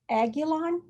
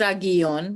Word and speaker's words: Aguilon: last name aguilon i think i've totally butchered that's that's fine it's aggie on but everyone says